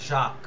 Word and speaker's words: Jacques: JACQUES, জাক, উচ্চারণটা হয় জাক, জাক দেরিদা, DERRIDA, দেরিদা।